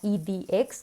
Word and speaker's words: edX: Por ejemplo, la página IDX, que se escribe EDX, tiene un curso, si